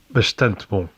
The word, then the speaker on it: bastante: In most Brazilian accents, it's s before a S. voiceless consonant and before a pause. For example, the phrase meaning pretty good. Bastante bom.